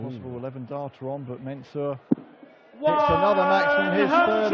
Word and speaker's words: Mensur: And a possible 11 darter on, but Mensur hits another maximum, his third of the match.